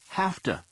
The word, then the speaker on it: have to: Notice how have to is pronounced have to, and has to is pronounced has to.